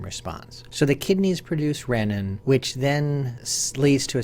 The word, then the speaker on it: renin: Now, renin is a hormone that comes from the kidneys. The name renin has as its root reen as in renal and probably should be pronounced renin, but most people pronounce it renin.